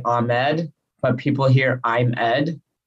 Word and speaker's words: Ahmed: And I've heard some folks pronounce it Ahmed. Is that the proper? Yeah, okay. Ahmed. Yeah, that is the right. Yeah, that is the proper way to say it.